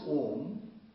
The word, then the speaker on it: Om: The Om has, when you pronounce Om, you pronounce A, U, Ma, Akar, Ukar, Makar, and that merges into silence.